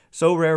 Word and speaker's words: Sorare: So Rare recently partnered with MLB All-Stars Juan Soto and Julio Rodriguez to serve as brand ambassadors.